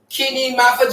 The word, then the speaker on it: Kini Mafa: Kini Mafa, just like the name is spelled here.